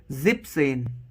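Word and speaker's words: siebzehn: ज़ैक्सेन, this is 16, एंड फॉर 17 जिपसेन, ठीक है। तो ये ई एन है वो रिमूव्ड, हटाना पड़ेगा, ओके।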